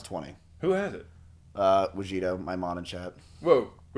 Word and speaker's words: Wajito: Wait, his name's Wajito. It's Wajito. It's like mojito.